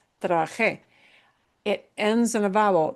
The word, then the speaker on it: trabajé: Trabajé. It's a special meaning. Yeah. We're same thing here. Last letter is a vowel. Normally, the normal pattern in Spanish is we punch the second to the last syllable if the last letter is a vowel. But no, because we're breaking that pattern, that rule, we have to write the accent mark in.